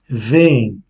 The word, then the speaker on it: vêm: C'est une façon plus courte de prononcer ce verbe. Au lieu de vêm. Donc, on accentue le deuxième E d'une façon assez légère. Donc, le premier, oui, mais le deuxième peut-être d'une façon presque imperceptible. Vêm.